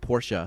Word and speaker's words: Porsche: well first of all you have to pronounce the name right porsa porsa family name yes and I met